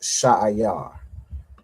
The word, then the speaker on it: Seir: All right, it's pronounced Sha'ayar.